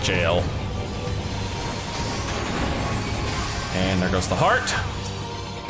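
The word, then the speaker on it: Gaol: of the granite jail i know it's just granite gowell but it's pronounced grand jail and there goes the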